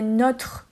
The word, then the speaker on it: notre: Ou alors, par exemple, c'est notre pays. Là, le O est ouvert, il n'y a pas d'accent circonflexe.